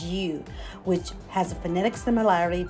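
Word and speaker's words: 鱼: The pronunciation of fish in Chinese is yu, which has a phonetic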